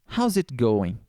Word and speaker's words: How's it going: o apóstrofo e aqui a pronúncia vai ficar basicamente o seguinte você vai falar How it tudo junto e esse S aqui com apóstrofo vão ter uma pronúncia de Z então How's it How's